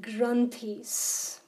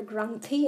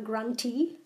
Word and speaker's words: granthi: They are called granthis. It's called a granthi and not a granti. Some people tend to pronounce it granti, and granti sounds cute, but it's actually a granthi, and that means a